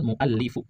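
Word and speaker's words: الْمُؤَلِّفُ: Bada al muallifu. Bada al muallifu bukan mualifi. Bukan mualifah. Salah kalau bacanya mualifi atau mualifah. Yang benar mualifu.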